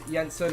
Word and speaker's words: Jensen: name in quickly so Miles Yensen I know it says Jenson here but we're going with pronunciation in this save in this game and also one of